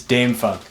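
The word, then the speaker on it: Dâm-Funk: I don't know so is it Dam Funk or Dom Funk it's Dame Funk D of course the third option not the obvious option but yeah so Dame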